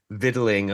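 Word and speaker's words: victualling: C is forget the C is in there. You know, the English as much as they're like, "Oh, we pronunciate. We annunciate everything." I'm like, "No, you don't. Don't don't come at me with aluminium when you can't pronounce the C in viddling or I mean, whatever.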